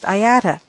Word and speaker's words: IATA: Many commercial air carriers are members of the International Air Transport Association, or IATA, pronounced IATA.